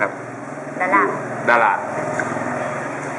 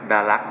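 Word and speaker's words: Đà Lạt: เมือง ดารั นะ ครับ ดา ดา ถ้า เกิด มา ถึง ที่ นี่ แล้ว ออก เสียง ดา ดารัก นะ ครับ ไม่ มี ใคร รู้ จัก ต้อง ดาด ครับ ฝน ตก แล้ว ก็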